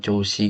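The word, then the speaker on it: 調子: Ichiban Hantoshi-mae, setengah tahun yang lalu, ni tabako kotowatte kara setelah menolak karada no choushi ga yokunarimashita. Ini bacanya choushi.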